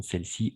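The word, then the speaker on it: celles-ci: Au niveau de la prononciation, on va prononcer de la même façon celle-ci ou celle-là.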